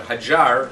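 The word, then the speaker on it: Hajar: Hajj made the journey so hi jar that's how pronounced really a jar had her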